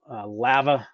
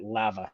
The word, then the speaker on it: Lava: Idaho, a place called Lava Hot Springs. You got to say it right. Lava, not lava. Lava Hot Springs.